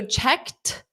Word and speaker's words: checked: So checked, this ed is pronounced as t, checked, checked, checked, checked.